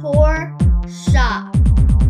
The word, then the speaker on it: Porsche: german sports car oh the sports car is pronounced poor shop oh thanks dude i'll see you on set